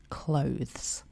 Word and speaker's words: clothes: The correct pronunciation is clothes, with the double vowel O. That's O as in go or blow. Unlike clothing, the word clothes is a plural noun,